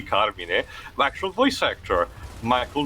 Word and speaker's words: Carmine: Yeah, in the meantime, actually, Lives, I found, it's actually me interested, I found, sorry, when the game pronounces Carmine, even though it should be Carmine, the actual voice actor, Michael Goff.